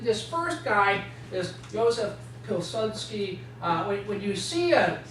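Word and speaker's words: Piłsudski: first guy is Joseph pilsky uh when you see a an L with a slash through it in Polish it's pronounced more like a w okay uh psky is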